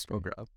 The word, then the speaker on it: Pograb: I just realized or figured out how to say his last name very recently. He had to correct me because I said it so many times wrong on this podcast.